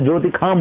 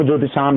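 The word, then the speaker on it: ज्योतिषाम्: अब ज्योतिषाम को हमने ज्योतिखाम बोला था, ये वेदों में उच्चारण है, आप ज्योतिषाम ही बोलिएगा, ज्योतिषाम।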